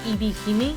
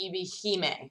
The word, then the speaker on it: Ebihime: very visual novels that was written by any EBP me this is me from the future coming to say I know it's pronounced EB Heymann so sorry I've watched no tsubasa Chronicles to